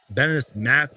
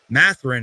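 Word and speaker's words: Mathurin: They got guys like Andrew Nembhard, Ben Shepherd, Bennett Math. I can't even say his name. Matherin, excuse me.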